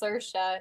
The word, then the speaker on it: Saoirse: That's how you pronounce her name. She's Irish. It's Saoirse is the What?